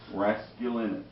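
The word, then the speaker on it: Raskulinecz: get on board I'll never be able to pronounce Nick's last name rasc Linus rasc Linus that's it took me while yeah It's Tricky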